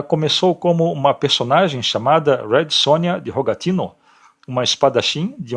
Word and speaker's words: Red Sonja: origem polonesa e ucraniana Daí vem a pronúncia do seu nome escrito com J mas pronunciado com i portanto Red Sonia a pronúncia Red Sonja é errada uma vez que o J tem som de i em seu idioma de origem ela lutava contra o